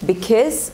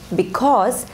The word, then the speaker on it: because: word b kiss now the second syllable can be kiss or cause so if you say because or because they both are correct